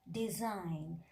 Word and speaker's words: design: In case of letter G, you know, when letter G appears just before the letter N, in that case we are not pronouncing letter G.